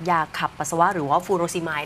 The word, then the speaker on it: furosemide: ขับ ปัสสาวะ หรือ ว่า ฟูโร สิย ดิฉัน อ่าน ออก เสียง ถูก มั้ย คะ ถูก ครับ อ่า ที่ แท้ จริง